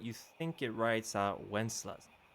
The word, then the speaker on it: Wenceslas: it says, but you think it writes out Wenceslas, like from the song. How you pronounce it, right?